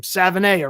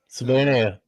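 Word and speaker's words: Savaiinaea: I do think I finally figured out how to pronounce his name. Savana, right? Savana.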